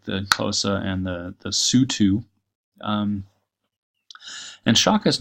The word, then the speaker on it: Sotho: So, and the single O is pronounced like a double O, at least in Southern African languages that I'm acquainted with. So, Moshoeshoe. Anyway, pronunciation doesn't really matter, right? This is why it's also called the Sutu, not the Sotho, and why the country